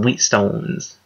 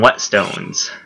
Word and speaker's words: whetstone: I need to get some whetstones. Quit. Wheat. I forget, what's the proper pronunciation anyways? Whetstone. Whetstone? I always call them wheat stones.